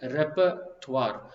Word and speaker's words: repertoire: on the first Codelco repertoire repertoire right everyone tends to do that that's fine it's actually a French word that has been adapted adopted into English but the correct pronunciation is repertoire so please repeat with